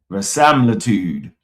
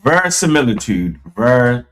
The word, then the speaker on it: verisimilitude: Versimilitude. I'm gonna say it right. Hold on. Versimilitude. All that for that. Versimilitude. Let me see. All right, there you go. Versimilitude. Verisimilitude.